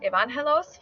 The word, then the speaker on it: Evangelos: This name could also be pronounced Evangelos for Spanish-speaking namers.